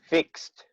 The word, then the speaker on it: fixed: Fixed. Fit. Fixed. Fit. Good. No D, only T.